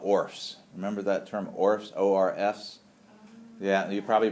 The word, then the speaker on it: ORF: remember that term ORS o RFS yeah you probably pronounce it o RF usually we don't pronounce the letters we just say ORS